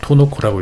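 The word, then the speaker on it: 砥の粉: 이건 진오코라고 읽고 이건 토노코라고 읽습니다. 네, 일본어 맞습니다.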